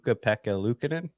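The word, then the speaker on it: Pekka Luukkonen: I can never say his name right but peka Lucin did I get it you got it you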